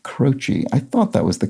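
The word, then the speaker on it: Croce: out that jim c-r-o-c-e the musician is pronounced crotchy i thought that was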